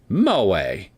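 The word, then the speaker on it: 萌え: Moa, pronounced moa.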